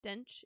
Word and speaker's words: Dench: Dench.